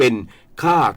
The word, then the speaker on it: ค่า: ค่า ของ แผ่น ดิน ไม่ ใช่ สะกด ด้วย ข ไข ไม้ โท สระ อา แต่ สะกด ด้วย ค ควาย สระ อา ไม้ เอก คือ คุณ ค่า มัน พร้อง เสียง ไง แต่ ไม่ พร้อง คน ละ ความ หมาย นะ คือ คน ที่